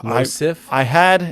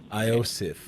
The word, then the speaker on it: Iosif: So it's Losif? It's actually an I. It's a capital I. It looks like an L. Iosif.